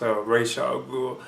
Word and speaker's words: Ra's al Ghul: racial group oh yeah actually you can say Raj I think it really is pronounced Ra's al Ghul but you have heard them pronounced oratio goo but anyway as raj